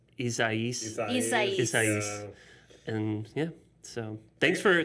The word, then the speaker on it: Isaias: and kick our asses i thought it was isaiah right and then the someone said on the news it was isaias and yeah so thanks